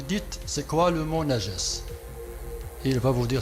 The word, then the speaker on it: najas: Parce que ce mot najas, le voici, ça se prononce najas, N-A-J-A-S, et ça a été traduit par impureté.